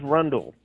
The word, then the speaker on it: Rundle: bitch's name catherine fernandez rundle grimes rhymes with rundle rhyme as in rhymes with grundle yep yep that's it